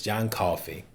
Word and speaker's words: Coffey: John Coffey, like the drink, just not spelled the same.